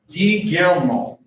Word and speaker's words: Guillermo: Guillermo. Say that again? Guillermo. Guillermo? Guillermo. It's kind of hard. Basically, the two L's are a Y. Guillermo.